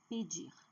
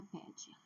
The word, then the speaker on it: pedir: Então, falar, comer, pedir. Não é falar, não é comer, não é pedir. Ou pedir. Não. A última sílaba é forte.